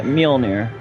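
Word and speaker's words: Mjölnir: Yeah, Mjolnir. I'm sorry, that's one of the things that bugs me with how people pronounce his hammer. It's Mjolnir, and a lot of people do not say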